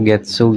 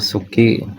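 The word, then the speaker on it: 月: Ini dibacanya getsu, gatsu atau suki. Ini tergantung konteks ya, konteks kata. Misal kalau ditulis sendiri dia umumnya dibaca suki, kalau buat bulan dia getsu kayak gitu ya.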